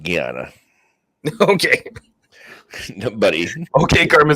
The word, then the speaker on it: Guiana: You're trying to say French Guinea? I'm pretty sure it's pronounced Guiana.